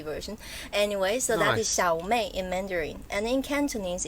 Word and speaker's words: Xiao Mei: ways or three ways one is the proper chinese mandarin way which is xiaomi okay yes xiaomi small